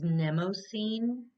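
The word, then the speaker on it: Mnemosyne: of the week is nemocene i'm gonna put that up there it's like spelled like mnemonic um and the word mnemonic comes from this goddess nemo scene she's the goddess of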